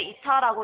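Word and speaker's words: η: 다 곱해서 효율로 나눠주시면 되는데 효율을 우리는 이타라고 합니다. 읽을 때 이타라고 읽으시면 되고 다 곱하는데 유량이 나와 있죠.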